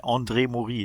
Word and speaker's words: André Morys: André Morys. No, I didn't do the André Morys. Yeah, that's French. Très français. That's French. Très français. André Morys. Yeah, you can pronounce it like that if you like.